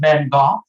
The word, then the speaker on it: Van Gogh: Did you know it's pronounced Van Gogh?